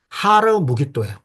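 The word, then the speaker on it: הר מגידו: 아마겟돈이라는 말은 하르 무깃도예요. 그러니까 아마겟돈이라는 건 아람식 발음이고요. 하르 무깃도가 히브리식 발음이에요. 무깃도 산이라는 거예요.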